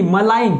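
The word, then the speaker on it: malign: ऐसे ही मलाइन, ये क्या लिखा हुआ है मलाइन। अब देखो यहाँ पे क्या है जी साइलेंट है।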